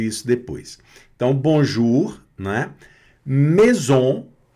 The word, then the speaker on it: maison: Maison. E aqui o A mais I tem o som de E, né? Então é maison, né?